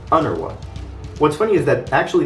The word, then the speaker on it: UNRWA: just spelling it out the name of this agency in arabic is made pronounceable by inserting vowels as though it were an arabic word transforming it into under what what's funny is that